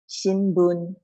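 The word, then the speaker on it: 新聞: Shi n bu n. Okay, it has four sounds. Shi n bu n. If I say it quickly, it becomes shinbun.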